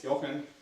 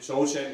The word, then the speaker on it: Jochen: me briefly introduce myself my name is yoken if you pronounce it joen it's okay to this I would say